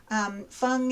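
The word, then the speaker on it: 烽: is mountainous with a mountain radical of course fung is also beacon fire with a fire radical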